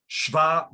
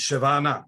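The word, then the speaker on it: שווא: Shva at the beginning of the word is shevana, is pronounced shva. So pronounce it. Pronounce it in the very word shva. You should say sheva berosh milah, sheva na.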